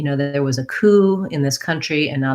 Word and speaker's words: coup: So just the K sound and the oo sound. That P is silent.